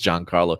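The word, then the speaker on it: Giancarlo: Esposito name on purpose since I told him countless times that has pronounced John Carlo you know I saw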